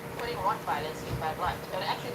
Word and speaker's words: Rottweiler: and I'm not putting Rottweilers in bad light. And actually, that's how you say it. I know you guys say Rottweiler in America, I'm like, wow, okay, but so it's Rottweiler, right?